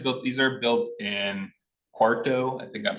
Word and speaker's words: Quarto: So how do you spell it? Someone was asking about chat. Quarto. Quarto. Q. Can you say that again? Quarto.